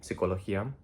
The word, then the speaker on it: psicología: So we're not going to have the H in psychology, psicología, because that H is not going to be providing anything. We don't say psicología, and a CH in Spanish will always be ch. There's no silent H after a C.